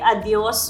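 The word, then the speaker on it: adiós: Lucia we you're right you drop the s a little bit like like adios would be a I heard the locals say adio adio exactly.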